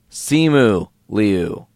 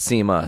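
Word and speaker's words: Simu Liu: ] name wrong guys see mu leo not SEMA see mu s IMU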